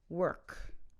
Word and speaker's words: work: so here we go the first one work work take their word were like we were we were happy we were late were and adkar work work as opposed to walk wawk wawk the vowel sound is